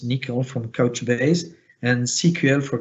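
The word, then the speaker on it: N1QL: of them nicole and one ql is pronounced nickel from couchbase and cql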